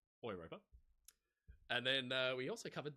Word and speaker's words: Europa: People criticizing the way that I said Europa instead of saying Europa, of course, being a German ship. And the Germans in the audience could correct me, but it, in theory, should be pronounced Europa.